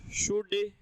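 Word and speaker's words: should: तो विल का past वुड, शैल का पास्ट शुड, कैन का पास्ट कुड, कुल्ड नहीं होता, वुल्ड नहीं होता, शुल्ड नहीं होता है, एल साइलेंट है।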